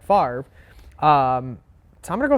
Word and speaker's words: Favre: The fact that like a lot of us still call him Brett Favre because that's how his name is spelled, even though it's Brett Favre.